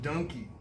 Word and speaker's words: donkey: a uh donkey system it's pronounced Dunkey like monkey that's why it's spelled like monkey you know what people